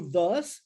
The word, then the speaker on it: thus: E aí nós temos o so como também pode ser traduzido ou utilizado therefore, ou o thus, ou ainda o then.